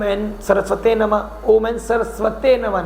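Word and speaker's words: सरस्वत्यै: की ज़रूरत है, तो सरस्वती माँ की पूजन, उनके अभिमंत्रित ओम एन सरस्वते नमः, ओम एन सरस्वते नमः, ना कि सरस्वती, ओम एन सरस्वते नमः, प्रोनाउंसिएशन ठीक करना है, ठीक है।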